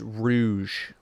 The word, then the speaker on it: Rouge: like wrinkly yeah on the side no it's pronounced Rouge she's a bat I'm auditioning oh okay so